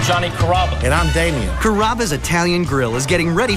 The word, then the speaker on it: Carrabba: pretty good you know Carrabba it's a really easy name to pronounce it's karma come to Carrabba's for